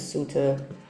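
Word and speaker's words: sutta: Sometimes it's sutra, sometimes it's suta, s u tta.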